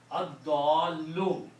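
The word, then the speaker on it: الضَّالّ: Ad-dallu. One dhamma will go away. And dwat is a shamsi letter. It gives the sound of lam.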